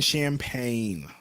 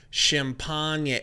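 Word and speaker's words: Champagnie: Just small forwards, Justin Champagne. Champagne.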